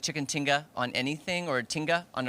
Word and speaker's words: tinga: So I've been saying it wrong. It's tinga. Tinga. I'm saying tikka.